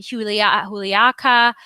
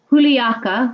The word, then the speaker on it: Juliaca: So here are some beautiful slides about Puno and Juliaca, which are the main cities that you actually fly in from Lima to I guess Puno, right, Linda?